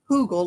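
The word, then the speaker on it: Hügelkultur: So it's pronounced hugel, like a hoot owl might say who.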